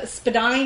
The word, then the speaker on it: Spadina: at home until she learns to say spadonnay now instead of Spadina when Spadina is actually historically correct she's pronouncing it properly but that means that